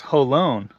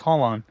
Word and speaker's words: Jolon: It's pronounced Jolon. I did not know that. I always thought it was Jolon.